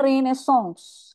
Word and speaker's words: Renaissance: Ada Renaissance. Bacanya Renaissance.